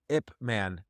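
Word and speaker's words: Ip Man: clips of it ever since and it's called ipman it's spelled IP space man M an itman and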